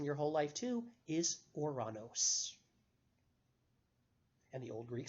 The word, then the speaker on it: Ouranos: name of the planet which you probably the mispronounced in your whole life too is Ouranos and the old greek spelling of that was oh you are a n OS or of course Uranus is the spell you I'm the pronunciation you